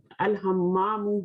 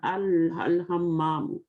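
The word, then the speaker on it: الحمام: Al-hammamu, ha is here. So lam is pronouncing al-hammamu.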